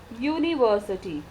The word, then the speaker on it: university: you pronounce these words, they are pronounced in consonant sound, like university, utensil, one-eyed man.